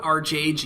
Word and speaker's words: ArcheAge: Today, I'm going to talk about ArcheAge, and I refuse to call it ArcheAge even if that's the correct way it's pronounced.